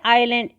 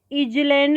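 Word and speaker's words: island: अब आइलैंड इसको हम प्रोनाउंस करेंगे आइलैंड, इजलैंड नहीं। तो आइलैंड यानी आई साउंड आ रहा है हमारा, इसके अंदर इसका आंसर होगा एन, बी।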